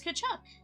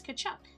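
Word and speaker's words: Tkachuk: It's Kachchuck. The the T is silent. Yeah, it's Kachchuck.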